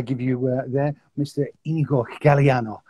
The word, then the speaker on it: Inigo Galiano: you uh there mr igor galliano have i pronounced that correctly yes that that's really good yeah that was perfect so do you want